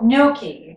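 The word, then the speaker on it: gnocchi: to make noi now Noki yep you said it right that time you got to the G silent but just barely you no noi you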